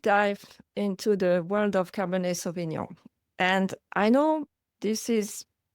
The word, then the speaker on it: Cabernet Sauvignon: French we would say Cabernet Sauvignon. And I know the "nion" is difficult to pronounce for non-French native.